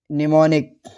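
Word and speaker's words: mnemonic: तो जब वर्ड की शुरुआत में एम एन आता है तो एम साइलेंट होता है। जैसे नीम। ठीक है ना? या फिर निमोनिक और आगे देखते हैं एन कब साइलेंट होता है।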